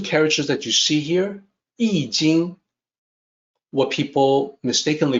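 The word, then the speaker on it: 易經: the top two characters that you see here ee jing what people mistakenly pronounce as iching or iqing sometimes the concept of gray eloquence predated the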